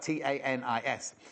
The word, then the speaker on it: Tanis: Only asked because we had this lovely lady messaging, and I kept calling her Tanis, and her name, because it's spelled T-A-N-I-S, and it's Tanis.